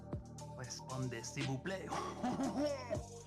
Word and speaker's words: répondez s'il vous plaît: Répondez s'il vous plaît. The S is silent.